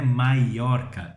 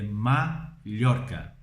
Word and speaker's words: Mallorca: Eu já li em português escrito e escrevem Ilha de Maiorca, mas não é Maiorca, é Mallorca. Mallorca, ok? Porque é como se fosse LH.